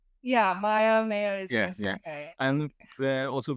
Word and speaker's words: MEYA: And today's topic is well it's a Polish word actually it's maya is that correct pronunciation? Yeah maya mayo is okay and also with that you have the voice of the episode this episode's guest.